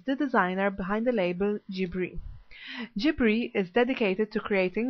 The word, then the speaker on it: JIBRI: Is that how you pronounce it? Correct, it's JIBRI.